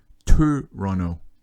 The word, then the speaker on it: Tøronto: And really, you know, if we're going to be a stickler, they have this letter in it that means it's actually pronounced Tøronto.